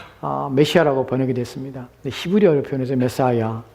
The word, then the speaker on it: 메시아: 그다음에 히브리어의 메시아 영어로는 메사라 표현 우리가 발음하지만 메시아라는 것이 정확한 히브리어 발음입니다 메시아 또한 크리스토스 동일한 단어입니다이